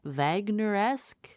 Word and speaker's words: Wagnerian: Is that how you pronounce it? Wagner-esque? Wagnerian. Wagnerian. Wagnerian, yeah. German operas, no, thank you.